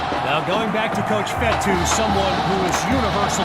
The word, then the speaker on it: Fetu: So Coach Fetu spelled F-E-T-U. For the longest time, I was pronouncing it Coach Feta, like feta cheese.